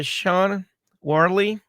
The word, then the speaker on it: Shauna Worley: Today we're here with moderator Shauna Worley. Uh am I pronouncing your name correct?